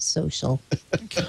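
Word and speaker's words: So.cl: out something called soal it's social without an i or an A but they still pronounce it social of course they of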